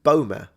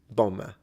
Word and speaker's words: bomber: Yeah, the B is silent.